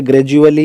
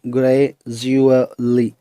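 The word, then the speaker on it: gradually: इसी तरह से ग्रेजुअली, इसमें डी यू ज की साउंड दे रहा है, इसको इस तरह से लिखेंगे, ग्रेजुअली, ग्रेजुअली।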